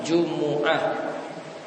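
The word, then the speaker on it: جمعة: Jumat cara bacanya, jimnya itu di dhamma, mimnya di dhamma. Namun salah satu cara baca mimnya di sukun, jadi Jumat. Atau juga tadi bisa mimnya itu di dhamma, Jumu'ah. Dan cara membaca dengan mimnya itu di dhamma itu lebih bagus, sebagaimana dapat pada sholat Jumat ayat ke-9.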